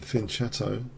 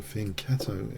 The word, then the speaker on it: fianchetto: Okay, I'm going to take her and fianchetto, I think. Or fianchetto, if you prefer that pronunciation. I like the cello sound.